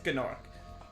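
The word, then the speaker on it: Gnorc: that was like this gnark but in reignited he just says Nork and it's very upsetting I mean that's how you say it it's like gnome um he said also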